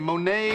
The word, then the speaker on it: Monet: Okay, now remember, when you get to the museum, Monet is not spelled M-O-N-A-Y. I wrote that out phonetically for you.